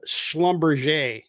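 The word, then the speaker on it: Schlumberger: think this company was previously uh called Schlumbumber and you have to pronounce it that way. That's what insiders I guess would how they would pronounce it. But it's written uh in essence it's it's not written like that in English.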